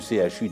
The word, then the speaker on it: CHU: Papa a dit qu'on doit prononcer toutes les lettres séparément, alors que la maîtresse nous a bien appris que C plus H égale CHE, comme dans chocolat ou chat.